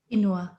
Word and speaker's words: quinoa: how you say it quinoa inua yes different people say it different ways but it's okay i was about 20 no no it's about 41 42 when i learned it wasn't quinoa but it's not something